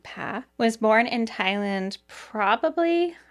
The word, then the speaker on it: Pah: So Pah, I've also heard her name pronounced Pa, but we're going with Pah, was born in Thailand probably around 1986, since today she would be 38 years old.